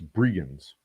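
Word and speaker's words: Bregenz: the audio pronunciation of bregen's come on give it to me okay i was close i was mispronouncing the first e so it's brienne's that's cool i got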